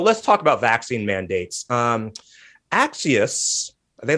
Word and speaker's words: Axios: He came on Crooked Media and he said, nope, we say it like Axios.